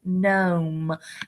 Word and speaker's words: gnome: The GN, being a word detective, we know that we just talked about how GN, the G is silent. So this word is gnome.